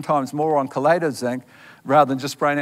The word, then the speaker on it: chelate: So what's chelate mean? The word, some people say chelate, but it's pronounced chelate.